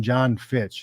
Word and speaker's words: Jon Fitch: was like how more how much more basic do you have to get than John Fitch it's just two syllables it's not a lot of not a lot of letters you know not too many conents shoved together yeah so you um